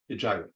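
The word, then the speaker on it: Hegira: How do you spell that, Rabbi? H-E-G-I-R-A. Hijira.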